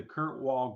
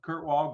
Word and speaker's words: Kirkwall: bit of guidance here uh you're with the Kurt Wall Group is that how you pronounce that right yes sir okay Kurt Kurt Kurt Wall Group and uh I want to know from